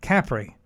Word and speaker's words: Capri: the island of capri the italians actually pronounce it capri we made several stops